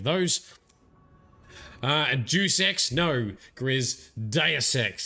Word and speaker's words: Deus Ex: uh juicex no grizz deus ex that's how you pronounce it not due sex deus ex uh as